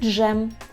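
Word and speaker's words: dżem: дзвоніть ДЗ чітко ДЗ далі якщо ви знаєте що Z з крапочкою у нас читається як ж тоді ви спереду добавляєте д і ми отримуємо звук Дж Дж носить логічно легко це запам'ятати у яких словах зустрічається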